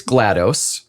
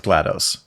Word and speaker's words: GLaDOS: are their names so the mother is GLaDOS and they're all hard G names and they're all based off of nerdy things because the other four of them are the kittens of GLaDOS yes correct yeah so